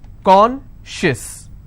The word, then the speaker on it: conscious: not apply here okay conscious how many syllables do i have two and i will stress on corn conscious okay precious how many